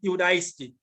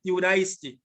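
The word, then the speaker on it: Ἰουδαϊστί: Transliteration, Iudaisti, sounds like Judah, Iudaisti.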